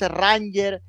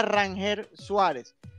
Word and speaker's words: Ranger Suárez: Si es Ranger. Entonces él me Rainer. comentó, no, es Rangel. O sea, cuando él lo Rainer. presentaron, era Rangel Suárez.